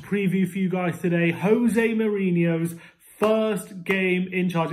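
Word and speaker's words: José: we'll have to learn people saying oh he's jose it's not jose he's not spanish all right jose jose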